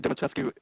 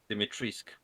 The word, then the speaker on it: Dimitrescu: Because of Lady Dimitrescu Urza edition. Lady Dimitrescu Urza edition. Okay. Dimitrisk.